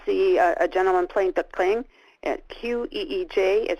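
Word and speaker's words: qeej: screen, you will see a gentleman playing the kling. Q-E-E-J is how you spell that instrument.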